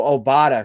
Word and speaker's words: Obada: obada obada okay so obada so kind of like qdoba i keep wanting to say qdoba but it's oh obada okay yeah like obama but with a d gotcha buffalo bills uk